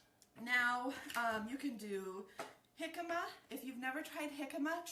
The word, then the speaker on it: jicama: All right, now you can do jicama. If you've never tried jicama, try it. Go and, it's spelled J-I-C-A-M-A, jicama, and it's kind of like a cross between an apple and a potato.